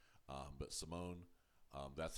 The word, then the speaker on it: Simon: they're using but um the way it's being pronounced in Swedish and the way it's being pronounced even on uh the English uh dub uh is Simone now I might say